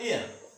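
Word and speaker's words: heir: जैसे ये एच से शुरू है लेकिन उच्चारण हो जाएगा एयर, उत्तराधिकारी, एयर उत्तराधिकारी।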